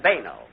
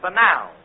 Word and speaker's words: banal: Well, I found out in night school that the correct pronunciation is purel and banal.